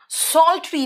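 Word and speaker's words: psaltery: बेटा याद रखना, सॉल्ट्री, पी यहां पे साइलेंट है।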